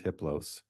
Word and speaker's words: Hiplos: "His name is Hiplos. The H is silent.